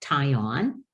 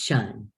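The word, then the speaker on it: -tion: and so it's not tie on it's shine i'll never forget the day that i was teaching in a class and i said this is not tai on it is pronounced shun and a boy raised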